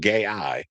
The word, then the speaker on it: gAI: So it's called GI which is actually pronounced gay.